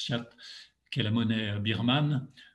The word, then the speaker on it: kyat: Le kyat, on prononce kyat, qui est la monnaie birmane, va perdre en quelques semaines 25% de sa valeur.